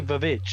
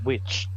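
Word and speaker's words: The VVitch: Why do you say Vavitch? It's witch. It's because it's two V's.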